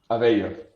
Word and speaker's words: Avello: Avello. Yeah, I would have brutally murdered that. No worries. Avello. It's spelled completely different. Just in Spanish, the two L's are pronounced like a Y.